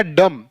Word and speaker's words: dumb: जैसे यहां देखो DUMB क्या हो जाएगा, डम। देखो यहां पर जो ये लेटर M आया है, M के बाद कौन सा लेटर, B, M के बाद B, तो B साइलेंट हो जाएगा, तो इसका हम उच्चारण डम्ब नहीं डम्प करेंगे।